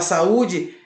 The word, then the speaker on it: saúde: E você percebe que também tem um acento agudo e o U ele fica isolado em uma sílaba, tá bom? O U fica isolado numa sílaba, ou seja, sa-u-de. O U fica separado do A.